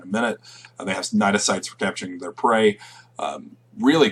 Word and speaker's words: cnidocyte: You'll notice that the C in cnidocyte is silent. It is a cnidocyte.